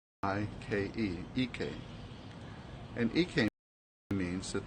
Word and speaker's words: Ike: The first one is Ike. Ike. I-K-E.